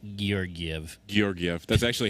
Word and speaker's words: Georgiev: Georgiev. That's actually how you pronounce his name.